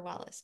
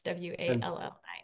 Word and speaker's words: Wallis: Non-dual Shaiva Tantra, Christopher Wallace, Wallis. And for listeners, Wallace is spelled Wallis.